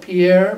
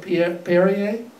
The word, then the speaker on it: Perrier: then that's one called i call it pierre but it's called perrier yeah that's right you know